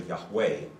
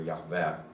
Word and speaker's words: Yahweh: And so the letter J in German is pronounced Yot. So it sounds like a nice Y.